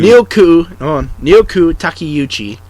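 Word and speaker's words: Naoko Takeuchi: Nyoku Takiyuchi.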